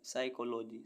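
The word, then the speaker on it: psychology: सोलम सोलम means गंभीर ऐसे birds जिनमें पी साइलेंट रहता है पी एस वाई सी एच ओ एल ओ जी वाई साइकोलॉजी साइकोलॉजी मींस मनोविज्ञान पी एस ए एल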